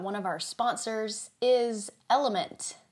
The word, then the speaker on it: LMNT: of our sponsors is element oftentimes mispronounced as lmnt it is an electrolyte